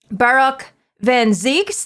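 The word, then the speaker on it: Barok van Zieks: We have met Barak Van Zeeks.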